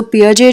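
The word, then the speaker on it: Piaget: सो पियाजे जो थे, इनका प्रोनाउंसिएशन आप गूगल भी कर सकते हो, तो इनकी स्पेलिंग अलग है बट we pronounce it इन a different way.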